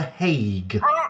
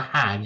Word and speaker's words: Hague: there's so much secondly it is pronounced the Hague not the hand yes uh it's not an old woman who's going to hex you what I already said uh thirdly